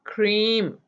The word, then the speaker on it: cream: A is silent in that. So cream.